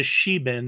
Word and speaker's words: Sheban: It's a sheban, that's how you say it, like the sheba empire, a sheban temple in Yemen.